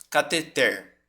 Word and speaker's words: cateter: Oi ó por exemplo a palavra que gera mais polêmica né cateter tá porque que a pronúncia dela é assim catheter porque se eu quisesse